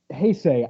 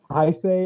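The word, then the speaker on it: 平成: agree exactly like i even though in the case of hey say i know it is it's just unfortunately it's been pronounced i say or i've heard it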